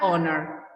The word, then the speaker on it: honor: Por ejemplo, an honor, ¿sí? Si bien la H es una consonante, no la pronunciamos en esta palabra, por ende usamos an, ¿sí?